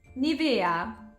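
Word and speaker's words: Nivea: the correct answer is Nia the emphasis is on the E did you get it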